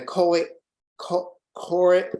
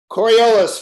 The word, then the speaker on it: Coriolis: the Coriolis Force and the Coe core boy I'm not pronouncing that right coriolis Force there I got it coriolis force is a